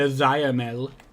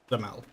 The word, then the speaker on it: Zamel: We're not saying the Zayamel, it's Zamel, which, fair enough.